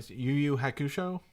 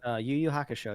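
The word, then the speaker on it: Yu Yu Hakusho: um uh and I'm gonna I'm going to butcher the name again unless you tell me get right YuYu hush show that YuYu Haka show yeah Haka show yeah so you know that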